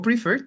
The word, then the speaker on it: prefer: El verbo prefer tiene 2 sílabas, pero como nos damos cuenta que el acento, digamos, la fuerza de la palabra va en la última sílaba, entonces ahí doblamos la